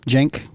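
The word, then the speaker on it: Cenk: was curious because I've been following Jen for a long time it's spelled Cen k for those following along at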